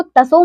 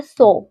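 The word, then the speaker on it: Tso: इसको तसो मत पढ़िएगा। यह है सो ये त जो है वो हिंदी में साइलेंट जैसे सुनामी को टी से लिखते हैं ना वैसे इस पे ये है।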